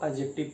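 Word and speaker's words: adjective: तीसरा है एडजेक्टिव, सब लोग एडजेक्टिव पढ़ते हैं लेकिन इसको एडजेक्टिव नहीं, इसको जो ये डी है इसको साइलेंट रखते हैं, इसको एडजेक्टिव पढ़ते हैं। इसका शुद्ध प्रोनाउंसिएशन होता है एडजेक्टिव।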